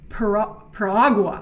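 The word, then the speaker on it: Piragua: Paragua. I made sure I looked it up so I could pronounce it.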